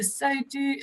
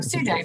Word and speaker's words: Sudo: There is another question coming in from one of our viewers to Mr. Sodu. Sorry, I keep on getting your name wrong, Sudo.